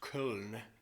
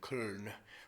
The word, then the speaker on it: Köln: In the city of Cologne, which in German is pronounced Köln, K-O, with the two dots over the O, L-N, Köln, right on the it